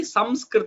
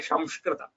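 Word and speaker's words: संस्कृत: But when we pronounce Samskrita, it has to be Samskrita only. You cannot say Shamskrita.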